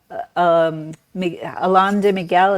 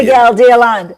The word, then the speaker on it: Miguel de Allende: Also, Mexico City and Alon de Miguel.